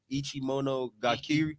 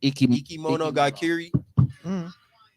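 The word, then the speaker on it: いきものがかり: Ichimono Gakiri. Ikimono Gakiri.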